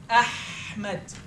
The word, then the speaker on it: Ahmed: throat that creates more heat inside of your throat. Ahmed. This is my most important letter you have to know. That's why I'm teaching you the letters of the throat first, so you can say my name right.